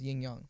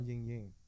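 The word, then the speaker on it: yin yang: hard for it no the correct dialogue is yingyong yingyong it's not yinying is that just an American thing yinyang it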